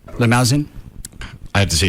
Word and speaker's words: Limousin: Anyway, Canadian whiskey and rare cognac casks from the Limosen. Okay. Forest in France. Is it limosen? Doesn't have an e on the end of it. Limousin.